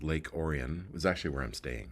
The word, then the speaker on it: Lake Orion: Orion but you know it's Michigan so they pronounce it Oran Lake Oran and um tonight's show